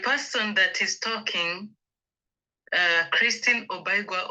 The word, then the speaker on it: Obaigwa: So let me ask you to pronounce your name the way you love it to pronounce, and tell us a little bit about yourself. My name is Christine Obaigwa